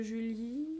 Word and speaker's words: Julie: Je monte en oblique, je descends pour le J, le U de Julie, le L de Julie, I et le E muet qui ne fait pas de bruit.